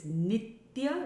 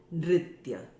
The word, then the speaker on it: nitya: all three words need to come together and pronounced as one so it's so don't break up and now this word is nitya which means daily or all the time it is not nithya remember in the earlier verse meant dance but